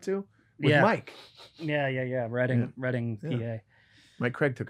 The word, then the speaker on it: Reading: from reading pennsylvania uh reading not pronounced like the verb brett cannot do and the task will excels at reading oh reading it's writing he said not pronounced